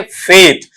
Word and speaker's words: faith: तो इसका उच्चारण अपन बोलते हैं फेथ, तो उसमें डिप्थोंग लाना है। हम बोलते हैं मोनोप्थोंग और आपको वहां पर लेकर आना है इसमें डिप्थोंग।